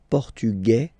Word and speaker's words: Portugais: Masculine, Portugais, you don't pronounce the S. Feminine form, Portugaise, you pronounce this Z sound, okay? And then l'Espagne, Espagnol, remember, Espagnol, Espagnol. So you get this final for the feminine form, but then phonetically it's the same.